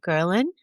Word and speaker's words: ghrelin: And also another hormone, ghrelin, the hunger hormone.